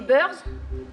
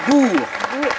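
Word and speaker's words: Boers: se sont-ils laence les burs oui la bonne prononciation c'est les Bours ça s'écrit c'est très bizarre ça s'écrit B O e r s ça se prononce Bour mais c'était la bonne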